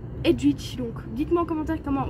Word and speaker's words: Edwige: On voit ici Edwige qui vole.